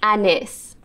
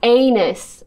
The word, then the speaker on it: Anys: Okay, first things first, how you pronounce my name. Imane Anys. It's not anus, okay?